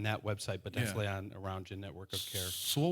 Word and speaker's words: Arounja: One is called Aroundja, but it's spelled oddly.